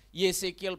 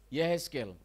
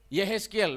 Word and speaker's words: Yehezkiel: Kita baca satu ayat, Yesekiel pasal 18. Tuhan tidak menginginkan itu. Yesekiel pasal 18 ayat yang ke-23. Mari jemaat ikut membacanya. Yesekiel 18 ayat yang ke-23. Yehezkiel. Ya? Yehezkiel bahasa Indonesia ya.